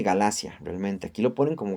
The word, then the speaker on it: Galacia: Este Galut ya no se dice así, se dice Galacia, realmente.